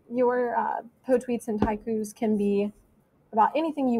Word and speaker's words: twaiku: poetry is called a taiku and that is three lines and 17 syllables that's like a high q but it also limits